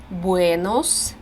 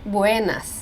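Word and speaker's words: Buenos: сонце і до опівдня тут дуже важливо вимовляти Буенос через о винос не буенас це дуже часто помилка у носіїв української мови Вони напевно тут дві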